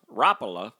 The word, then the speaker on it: Rapala: the 20s okay um Rapala Rapala is how it's pronounced has been making baits since 1936 now he's the original you know the original Rapala swim bait you know